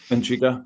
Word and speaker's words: Djiga: Is that how you pronounce it? Yeah. Iniga.